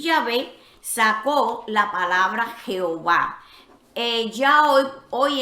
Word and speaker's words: Yahvé: H, B, H, y cuyo sonido fonético más cercano es Yahvé.